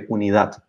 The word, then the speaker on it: unidad: We say unidad.